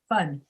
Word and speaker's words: fun: there you got it the uh is the sound you want in fun very short fun yep you got it that's it what you're doing the way you're pronouncing it is so you're making it so long and the fan sound is a longer sound because you open your mouth more fan fan watch my mouth fan fun fan fun fan fun